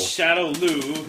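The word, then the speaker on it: Shadaloo: It's Shadow Lou, not Shadow. There's not It doesn't end with A, it ends with O.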